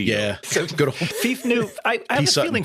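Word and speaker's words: Phoef: We found out that he pronounces it Fief, but I just think Foof is more fun.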